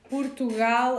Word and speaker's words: Portugal: Portugal and Moreno, we have their closed kind of pronunciation of the O.